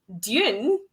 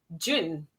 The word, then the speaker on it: Dune: Is it Dune or June? I think it's Dune, but I can't say it. I say June. I say June. June. As in to rhyme with, as in to sound exactly the same as the month, rather.